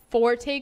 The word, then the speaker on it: Forte: kyc to go and Forte coin for coins do you pronounce the e yeah Forte Forte anyways so they are